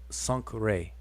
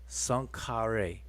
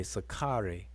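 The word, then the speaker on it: Senusret: But we don't pronounce it like that. We pronounce it sankre. Oops. Forgot the A. Sankare. Or people say it quickly and say sakare. Sankare.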